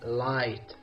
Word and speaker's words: light: the last one now another tricky one in light tight and taut which letter all letters are silent is it L G and H T or H and T this is the correct answer dear students it's G H I say light tight taut very good now